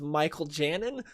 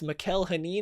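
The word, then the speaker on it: Mikel Janín: which I did not know that's how you pronounced it. I thought it was Michael Janin, but it's Mikel Hanin is how he pronounced it.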